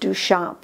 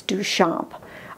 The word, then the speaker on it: Duchamp: Duchamp but it's pronounced Duchamp he was a french guy and so that's why it's Duchamp he painted this in